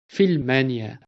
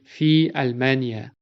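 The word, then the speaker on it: في ألمانيا: For example, we cannot say fil mania. We have to pronounce the a sound and say fi almania or ila almania.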